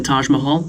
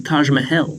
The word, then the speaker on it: Taj Mahal: wonders of the world you might be thinking it's the Taj Mahal no it's the Taj mahel fun fact I got called out on pronouncing that wrong multiple times we traveled 3 hours by